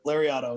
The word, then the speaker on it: Lariato: And I was going to touch on your promotion, your Lariato Pro Wrestling, I believe, right? Is that how you say it? Yep, Lariato.